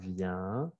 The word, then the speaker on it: vient: Como es el sonido un, como el 1, 2, 3, 1, o chien, pero je viens, tu viens, il vient, elle vient, on vient.